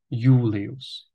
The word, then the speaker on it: Julius: i Čteme jako J Julius všimněte si také konců slov tulius a Julius kde Čteme i tu li ale mezi to i a u ještě vkládáme J pro snadnější výslovnost takovému